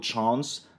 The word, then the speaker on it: chance: En effet, le A du mot France va être prononcé comme le mot chance avec un A long, puisqu'il est suivi du son ns.